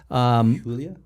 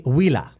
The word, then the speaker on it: Huila: It looks like it's pronounced Julia, but it's actually Huila. So this is in Spanish.